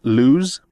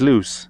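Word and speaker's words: Luz: the l house i've heard a few people mispronounced loose as lose and like i know it's got a z in it but it's it's loose it's literally as easy as just listening to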